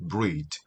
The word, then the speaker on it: breathe: 그리고 breathe, 뒤에 이가 하나 더 붙었을 때는 동사로서 발음이 E 사운드가 되겠죠.